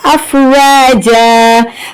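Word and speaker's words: أفواجا: اب دیکھیں جب بھی ایسا وقف آتا ہے تو ہمیں ایک زبر کو حذف کرنا ہے اور ایک زبر پڑھنا ہے، ٹھیک ہے؟ اگر ہجے سے سمجھا جائے تو واو الف زبر وا جیم الف جا پڑھیں گے، ٹھیک ہے؟ افواجا، اب یہاں پر ہمیں ایک زبر حذف کیا تو اس لیے افواجا ایک الف کے برابر کھینچ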